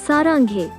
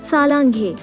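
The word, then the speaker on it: 사랑해: Well, the word above is saranghae. It's not salanghae.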